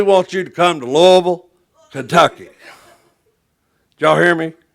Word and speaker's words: Louisville: said man we want you to come to Louisville Kentucky y'all hear me Lille it's not pronounced lville that's in Arkansas where I'm from it's lo